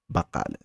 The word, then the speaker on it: بقالة: Notice that there is ق sound. The Q, it's a ق sound. So it's not k, it's not بقالة.